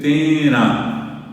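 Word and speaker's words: térã: La O en guaraní se dice tena, tena. Y se escribe T-E con acento gráfico, acento común, acento parecido al castellano, R y A nasal. Tena. Se tena de.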